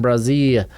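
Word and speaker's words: Bresee: Detroit Lions are going Brian Brazil out of Clemson, and I'm going to continue pronouncing it that way because straight up, that's how it's pronounced on the Clemson website.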